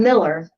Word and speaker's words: Mueller: Yes, but you're already saying it wrong. Sorry. Well, I'm Miller because he told me the right way to say it, but then I made the mistake of reading.